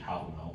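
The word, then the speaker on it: Hávamál: Modern Icelandic pronunciation, Hallmall.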